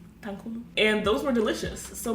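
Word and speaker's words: tanghulu: is obviously candied apples and I think it's pronounced Tang Hulu Tang Hulu Tang Hulu and those were delicious so maybe we should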